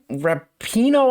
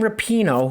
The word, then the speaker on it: Rapinoe: All right, so in the video that I did on Friday, I played a clip of Megan Rapinoe, I think it's how her last name's pronounced, Megan Rapinoe, who is a U.S.